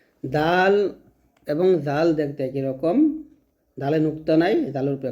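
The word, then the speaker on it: ر: তারপর দেখুন রটা কিন্তু মোটা হবে, যে অক্ষরগুলো মোটা হবে সেগুলো কিন্তু উপরে লেখা আছে মোটা হবে। তো রটা অবশ্যই মোটা করে উচ্চারণ করতে হবে। উচ্চারণটা হচ্ছে জিহ্বার আগার উল্টা পিঠটা উপর তলাসন লাগবে। আমি যা যা বলতেছি প্রত্যেকটা বিষয় আপনারা চেষ্টা করবেন খাতার মধ্যে নোট করে রাখতে। তো এটা হবে র, র, এরকম।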